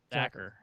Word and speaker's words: Zacher: I was about to say Zakar again, but that's not right. So Yeah. Sorry. What'd you say it is? Zacher.